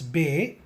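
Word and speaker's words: باء: To pronounce Be, you need to close your mouth and slightly open your mouth by saying Be.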